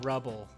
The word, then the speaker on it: Rubble: but I've always had a thing for Betty Rubble Betty rebel betty rubble rubble from the Flint inaudible yeah yeah no I was just mixing up her name I said Rabbo on his rebel rebel keep